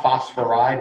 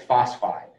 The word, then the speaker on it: phosphide: it's not oxidized nitride it's not phosphoride it's phosphide sulfide um carbide yeah